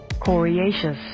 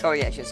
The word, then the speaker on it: coriaceous: He's cradled in his Right, I'm gonna check this pronunciation for that. Gracious. Coriaceous. Coriaceous, okay.